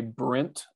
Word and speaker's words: Brant: And if you have trouble saying Brant, say Brent, like you're from Texas, and people will overpronounce it, and it works every single time.